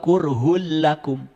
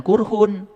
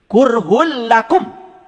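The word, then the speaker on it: كُرْهٌ لَّكُمْ: Wahua qurhul lakum. Hm. Awas jangan qurhun. Karena apa? Domah dua menghadapi lam itu idgam pilaguna. Hurhul lakum gitu.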